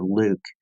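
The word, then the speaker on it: LIWC: L IWC and I we pronounce it Luke and the Luke program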